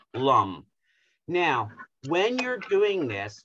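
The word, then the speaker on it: Lam: in your perineal area it's spelled l a m but it's actually pronounced lum now when you're doing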